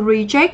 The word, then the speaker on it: reject: Và đáp án D thì chúng ta có từ reject thì đây là động từ trọng âm rơi âm tiết thứ hai, nó có nghĩa là gì nhỉ?